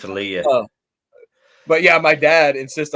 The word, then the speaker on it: Leia: Solo but no don't tell her that both pronunciations are it's like caramel and Carmel or or Leah and Leia no it's Leah but yeah my dad insists on calling her Leia um and when people say oh hey have